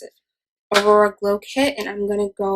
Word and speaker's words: Aurora: So I'm actually going to take the Anastasia Beverly Hills Aurora, yeah, that's how you pronounce it, Aurora Glow Kit, and I'm going to go into the shade Luna, which is this middle white highlight shade.